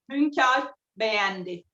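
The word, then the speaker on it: Hünkar Beğendi: So in Turkish, the lamb stew that I'm making, the way we pronounce it is Hunkar Begendi.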